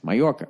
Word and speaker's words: Mallorca: Now that makes sense, Mallorca, right? Because in Latino, Hispanic there, whatever the fuck you're supposed to say, the J is a Y, right?